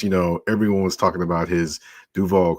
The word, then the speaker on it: Duval: But here is what he gave me with how Duval should be pronounced. Duval.